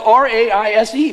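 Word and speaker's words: raze: Is spelled R-A-I-S-E.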